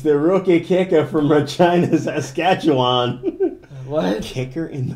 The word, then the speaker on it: Regina: It's the rookie kicker from Regina, Saskatchewan. What? Kicker in the fucking head. That's why Regina rhymes with fun.